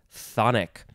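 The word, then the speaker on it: chthonic: in this episode is sis it's spelled funny but it's just pronounced sonic with a th sound phonic y is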